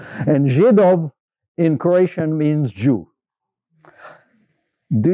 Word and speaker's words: Židov: So Z is pronounced Z. If you put a hook off, it's a J. And Židov in Croatian means Jew.